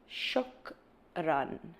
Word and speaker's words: shukran: Thank you is shukran.